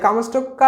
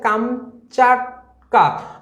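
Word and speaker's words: Kamchatka: করে ব্যাখ্যাটা দেওয়া আছে কামস্টক্কা হলো এর প্রকৃত উচ্চারণ হচ্ছে কামচাটকা অর্থাৎ রাশিয়ার অন্তর্ভুক্ত সাইবের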